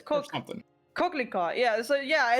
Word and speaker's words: coquelicot: coquelicot. Yeah, so yeah, it's that's how you would pronounce it.